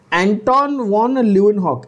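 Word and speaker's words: Anton van Leeuwenhoek: एंटोन वॉन ल्यूवेनहॉक, एंटोन वॉन ल्यूवेनहॉक ना बच्चों, ये जो यहां पर आपको एनसीईआरटी में दिया नाम देख लो, एंटोन वॉन ल्यूवेनहॉक, ठीक है?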